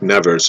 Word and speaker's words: Nevers: And before the apparitions, I say Nevers, I'm not sure how to pronounce it. It's spelled like Nevers, and my French, I would say it's Nevers. Unless it's Nevers, I don't think that S is, I think the S is silent.